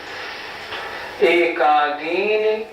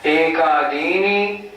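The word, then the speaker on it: एकादीनि: बात का ध्यान रखना अक्सर लोग बोलते हैं एकादनी भाग्यानी ये गलत हो गया इसमें नी बजाय छोटी इ के बड़ी ई की मात्रा हो गई तो एका दीनी नहीं भाज्यानी नहीं कैसे बोलेंगे एकादीन दी पे जोर लगाना है एकादीन भाज्यानी युग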